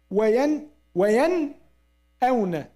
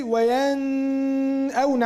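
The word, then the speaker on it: وينأون: We should make idhar. To what? To Noon or to Hamza? To Noon. We said wayan awna. Because yes, Hamza has fatha. Wayan awna. وَيَنْأَوْنَ وَهُمْ يَنْهَوْنَ. That's what comes now, inshallah. But the verse said وَهُمْ يَنْهَوْنَ عَنْهُ وَيَنْأَوْنَ عَنْهُ. Can you say وَيَنْأَوْنَ عَنْهُ? No, now you added غُنَّة.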